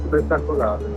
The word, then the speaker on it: spettacolare: Spettacolare. Spectaculare.